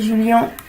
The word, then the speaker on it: Julian: Julian Alaphilippe, comme certains disent, moi je l'appelle Julien. Chacun sa prononciation.